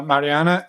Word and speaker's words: Mariana: little bit do you mind introducing yourselves uh Mariana and Rob did I do it right did